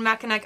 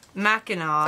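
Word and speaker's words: Mackinac: i like these and makanek island pronounced mackinaw oh my god wow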